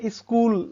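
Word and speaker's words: school: और ये स्कूल, यहाँ पर भी आप स्कूल की स्पेलिंग में एच साइलेंट है, ये डेली बेसिस में आपको है।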